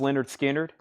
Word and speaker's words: Lynyrd Skynyrd: Nirvana is 49.99 Pink Floyd The later years this is 84.99 Lynyrd Skynyrd pronounced Leonard Skynyrd 64.99 black MCA press